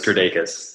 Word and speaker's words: Kirdeikis: the way out in Bali, my man, Kirdeikis. Man, how do you say your last name? I don't want to butcher that too bad. You know, you're the closest out of most people. It's Kirdeikis. Kirdeikis.